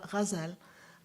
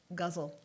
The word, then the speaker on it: ghazal: You have to soften it a little bit, almost like you're saying a J. Like If you speak French, it's like the French R, the R. It's really a ghazal. But people in the U.S. just call it guzzle. guzzle, like you're drinking.